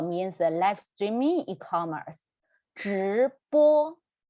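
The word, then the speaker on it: 直播: We need to roll our tongue up again. Yeah, so roll your tongue up and pronounce 直播.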